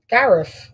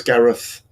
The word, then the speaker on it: Gareth: How'd you say my name? Gareth. No, it's Gareth. Gareth. There you go. Well, I say it Gareth with an F.